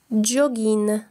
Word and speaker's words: jogging: Jogging. وهو الجري الخفيف. Ce mot vient de l'anglais. يكتب jogging لكن ينطق jogging.